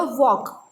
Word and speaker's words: walk: Here walk, again L is silent.